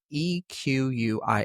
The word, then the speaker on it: Ecquia: So, they spell it E quia A. I think I'm saying that right.